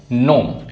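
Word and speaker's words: gnome: अब साइन में जी साइलेंट है, फॉरेन, फॉरेन में जी साइलेंट है, नोम, नोम में जी साइलेंट है।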